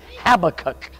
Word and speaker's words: Habakkuk: I said, I'm preaching from Habakkuk, and so I was informed that it's Habakkuk.